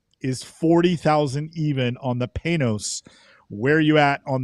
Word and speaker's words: Panoz: Lucas, the bid turn, in my notes, phonetically wrote it out that it's Panoz, and that was allegedly the correct way to enunciate or pronounce the name of the car. I always called it Panoz, but thank you, Lucas, for correcting me.